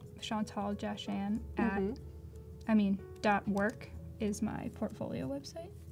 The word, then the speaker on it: Jahchan: So it's Jahchan. Chan. Chan. It's tough. I just recently learned how to spell it.